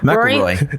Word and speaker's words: McIlroy: McElroy. No, we Rory picked you McIlroy. because of the way That's you pronounce McElroy.